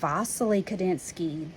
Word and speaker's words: Wassily Kandinsky: And you see here his name is spelled with a W, but I've been saying Wassily Kandinsky. That's because he's Russian, and that's how they would pronounce it in that country.